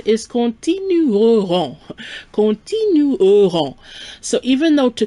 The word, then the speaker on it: continueront: A little note here, we have continuer, to continue in the future, and the pronunciation is continueront.